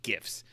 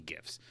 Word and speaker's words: GIF: to talk about is GIFs. Now, they're pronounced GIF, but popular culture has turned them into GIFs, particularly with internet memes and stuff like that. So I'm going to go with GIF, but really they're actually